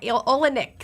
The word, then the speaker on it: Olenik: I was so interested in saying the Olenik, right? Olenik. So I'm going to say that again, or you repeat it for me. You got it right.